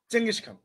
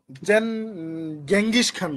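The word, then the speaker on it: Genghis Khan: আর বানান ঠিক রাখার জন্য বলবেন গেঙ্গিস খান বলবেন, হয়ে গেল। গেঙ্গিস খান। গ্যাং, GENG গ্যাং, আর হচ্ছে গ্যাং হিস খান, HIS হিস। এগুলা মানুষ শুনলে হাসবে, কি উচ্চারণ শিখায় বাচ্চাদের। হ্যাঁ, বাংলাদেশ তো হয় আবার চেঙ্গিস খান। চেঙ্গিস খান, একবারে জি এটাই উচ্চারণ হবে চেঙ্গিস ভাইয়া। খানের, এটাই বানান, এটার উচ্চারণই চেঙ্গিস খান।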